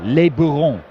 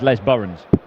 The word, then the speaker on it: Les Burons: Les Bourons. It's not, it's Les Burons. Fishing lake. You might pronounce it Le Buron. I don't think it is.